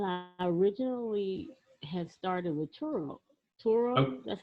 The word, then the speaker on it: Turo: Well, I originally had started with Turo. Turo, Oh, that's how you uh, pronounce it. Yeah, Turo.